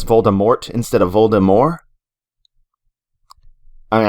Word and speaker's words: Voldemort: antagonist in the series his name is pronounced voldemort not voldemort there would be more french flair to it because it is a french name and that fact alone means that trailing tea isn't pronounced jk rowling has said